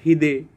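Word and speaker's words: 秀: But when used in names, it can have the pronunciation of hide.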